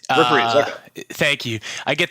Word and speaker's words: Reprise: How do you pronounce it? Reprise. Reprise, okay.